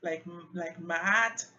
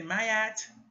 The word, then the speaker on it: Ma'at: Some people say Ma'at. I prefer to say Mayat. It sounds like it just makes more sense. And I think there's an accent on the first A, so the A sounds are different. Mayat.